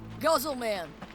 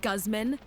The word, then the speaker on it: Guzman: We got a little extra talk between the Hey, Guzzleman. What time is it? It's pronounced Guzman, and it's time for you to buy a watch.